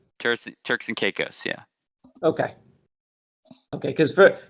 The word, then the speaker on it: Caicos: i see dave's watching us from turks and caicos he just uh chatted us up on the